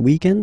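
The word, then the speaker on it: week-end: we're talking about the weekend okay but then pronounce it the French way weekend the weekend okay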